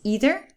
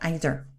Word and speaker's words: either: on to either or pronunciation here is either or either whichever you like the same with neither or